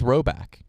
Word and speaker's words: Rhoback: Get ready for the spring with Roback. We are. Robiak.